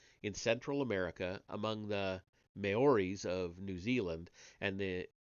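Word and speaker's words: Maoris: The theme resurfaces in Japan in Central America among the Mayoris of New Zealand and the Oh, I'm sorry, Mauies. Mauies, I think is how that's pronounced, of New Zealand.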